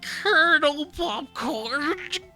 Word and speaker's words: Kernel Popcorn: So, and then just now, it's like when the name hit me, Colonel Popcorn, and it's spelled KERNEL Popcorn. It's Colonel Popcorn.